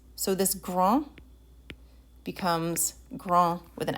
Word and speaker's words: grand: an e to it now you pronounce that final consonant whereas you didn't pronounce it when it didn't have a vowel after it so in the masculine gran in the feminine grand and for the feminine